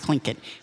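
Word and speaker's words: Tlingit: t I believe and but it's pronounced clink and they came out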